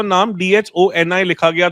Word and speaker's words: Dhoni: So it's MS Dhoni actually. It's not MS Dhoni.